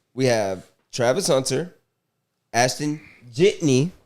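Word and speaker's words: Jeanty: We have Travis Hunter, Ashton Jitney. Jitney.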